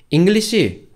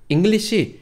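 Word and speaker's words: English: c 라고 하는 발음에서 악센트 는 앞쪽에 있어요 자 여러분 잉글리 c 한번 발음해 보세요 한국말로 잉글리시 매고 영어식으로 요 예 정확히 하시려면 악센트를 앞쪽에 주셔야 되요 강 셀의 앵무 아시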